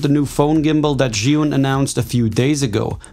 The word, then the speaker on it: Zhiyun: Zhiyun. We say Zhiyun, but the Chinese say Zhiyun or Zhiyun.